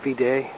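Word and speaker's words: Viðey: I think it's called Videy, but I'm not sure exactly the pronunciation. It's V-I-D with a line through it, E-Y.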